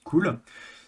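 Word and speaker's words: CeWL: Donc en fait, Cool, donc c'est ceci, ça se prononce Cool, c'est un générateur de word list customisé.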